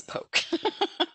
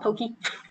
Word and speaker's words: poke: i thought it was poke poke some people call it pokey pronounce correct pronunciation or at least that's how they say in hawaii and if you say